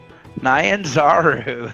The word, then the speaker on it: Nyanzaru: Port Nyanzaru. Nyanzaru.